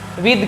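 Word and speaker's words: with: ठीक है, तो यहाँ पर विद का यूज़ हुआ है, इसको विथ नहीं पढ़ते हैं ना, इसको विद द पढ़ते हैं।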